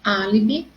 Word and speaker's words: álibi: Então, a minha sílaba mais forte de álibi é a letra A.